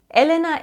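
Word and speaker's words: 엘레나: Elena in Korean is written like this, so you have the syllable L, Le, Na. As you can see, there are two consecutive L's, and if two L's are directly behind each other, they will be the L sound, the soft one, L.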